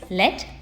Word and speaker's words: lead: We can also pronounce it as lead, but here the word which we use in the poem is lead, and the meaning of